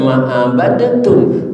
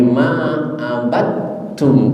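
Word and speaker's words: مَا عَبَدْتُّمْ: Kita baca bukan ma'abadatum, tapi ma'abadtum. Kenapa? Kemana dalnya? Masuk ke huruf ta, maka ditimbul tasdid di huruf ta. Hukumnya idgham mutajanisen.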